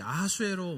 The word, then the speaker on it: 아하수에로: 오늘 1절에 나타나고 있는 이 아하수에로 왕은 실제 역사에 있는 인물입니다. 바로 이 페르시아 제국의 4대 왕 크세르크세스의 히브리식 발음이 이 아하수에로예요.